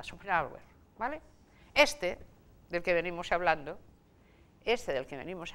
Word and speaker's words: Schopenhauer: Ya saben, Schopenhauer, pueden ustedes pronunciarlo con una J en el medio, decir Schopenhauer, pero en ese caso, si van a Alemania, poca gente entenderá a quién se refieren, porque la H intercalada apenas se pronuncia, es como una parada, Schopenhauer, ¿vale?